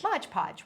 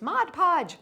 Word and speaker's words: Mod Podge: Remember, mom and dad always used to call it Modge Podge. When we were growing up our parents called it modge podge. But we got in trouble by lot of people saying its Mod Podge.